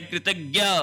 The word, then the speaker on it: कृतज्ञ: कृतज्ञ यहां पर संयुक्त व्यंजन ज्ञ आएगा। ध्यान रख लेना ज जिसका उच्चारण वैसे ज होना चाहिए लेकिन अपन ज्ञ करते हैं।